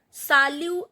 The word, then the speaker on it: salut: Salut Akanksha, T is not pronounced.